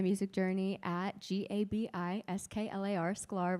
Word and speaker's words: Sklar: Sclar rhymes with star on all social platforms, TikTok, Instagram.